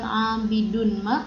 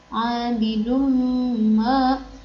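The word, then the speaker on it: عابد ما: Jadi bukan abidun ma, tapi abidum ma.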